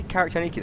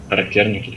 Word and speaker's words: Характерники: Wait, did you say Karaktaniki there? How do you say that? Характерники, it's ha. Karaktaniki. Характерники, yes.